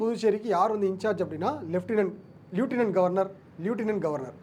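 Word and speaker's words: lieutenant: So Delhi and Puducherry இவங்களுக்கு வந்து யார் வந்து இன்சார்ஜ் அப்படின்னா லெஃப்டினன்ட் கவர்னர். இது வந்து ஃபஸ்ட்டு தெரிஞ்சுக்கணும். ஸோ என்னென்னா டெல்லி அண்ட் புதுச்சேரிக்கு யார் வந்து இன்சார்ஜ் அப்படின்னா லியூட்டினன்ட் கவர்னர். ஸோ தப்பாக ப்ரொனவுன்ஸ் பண்ணிவிட்டேன், லியூட்டினன்ட் கவர்னர். ஸோ இவங்களுக்கு வந்து பார்த்தீங்க அப்படின்னா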